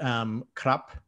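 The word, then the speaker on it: ครับ: like officially, but like if R or L is the second letter in a syllable, then like in speech they won't actually say it. So like the word krap, K-R-A-P, which is the polite word for men.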